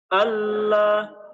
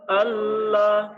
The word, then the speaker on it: Allah: Contohnya alla Allah bukan Al.